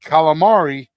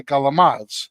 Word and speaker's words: calamari: So, capicola, because gabagool, like calamari in New Jersey, we would say calamads. Yeah. That's the way Italian Americans say it because it was passed down from them saying it incorrectly.